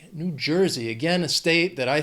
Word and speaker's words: New Jersey: 3 syllables. Stress is on, well, the first syllable of the second word, that New Jersey.